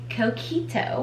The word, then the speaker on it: Coquito: I still wanna make Coquito, which is the proper way to say it,